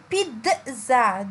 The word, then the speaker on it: pizza: le mot pizza genre c'est un mot anglais il se prononce pizza donc j'entends mme z